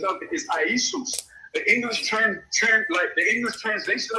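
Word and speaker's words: Ἰησοῦς: The Greek pronunciation of it is Iesous.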